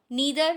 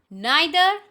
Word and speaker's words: neither: So either, or, neither, nor are wrong. Either, or, neither, nor. It's a correct pronunciation.